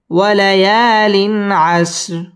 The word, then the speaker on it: وليال عشر: عش، را دو زر، وليال عشر وليال عشر। ওয়াও ঠোঁট গোল করে উচ্চারণ করতে হবে। ওয়ালা ইয়া জবরের বাম পাশে খালি আলিফ, মদের হরফ এক আলিফ টেনে পড়তে হবে।